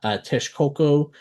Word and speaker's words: Texcoco: And real quick, you'll notice that I did not pronounce Texcoco as well as Nawa necessarily the way it is spelled. I'm pronouncing it phonetically. I'm pronouncing it in the actual Nawa pronunciations, at least as close as possible.